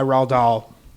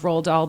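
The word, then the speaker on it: Roald Dahl: Uh but based off a book by Rald Doll. Did I pronounce that correctly? Rald Rald Doll.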